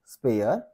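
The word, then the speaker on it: spare: स्पेन स्प एअर स्पेअर इथे बघा इथे जर तुम्ही वाचला तर हा आर वाटतो ओके पण या स्पेलिंग मध्ये या स्प नंतर हा जो आलेला आहे याला आपण एअर असं म्हणू स्पेअर स्प एअर स्पेअर ओके वाचा स्प आर ओके तसं होणार नाही स्प एअर स्पेअर स्प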